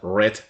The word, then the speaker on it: read: hay que recordar que la palabra leer en pasado se pronuncia red no rate detrás del verbo please